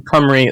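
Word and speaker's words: Cymru: you know look at the relevant apps in comray it's spelled c-y-m-r-u i'm glad i got i'm glad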